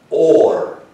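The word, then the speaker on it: אור: And that's the word for light, and it's pronounced or.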